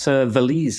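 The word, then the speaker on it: Valize: And tell us about Valise as well. Am I pronouncing that right?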